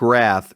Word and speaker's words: RATH: Well, Project Wrath, Wrath is spelled R A T H, not W R A T.